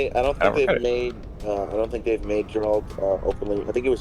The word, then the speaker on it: Geralt: It's actually pronounced Geralt.